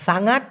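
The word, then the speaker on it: sangat: মানে হচ্ছে অনেক আর সাঙ্গাত এস এ এন জি এ উচ্চারণটা হবে সাঙ্গাত সাঙ্গাত এই সাঙ্গাত মানে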